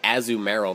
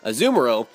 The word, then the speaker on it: Azumarill: gengar as zoom i was about to say azumarill that's kind of a strange way to pronounce it azumuro uh dragonite and venusaur um i don't know